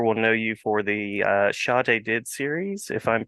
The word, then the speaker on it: Shad Hadid: know you for the shadid series if I'm pronouncing that correctly I hope I am Shad Hadid Shad Hadid yes much much less uh Arabic sounding than the book actually is which is very Arab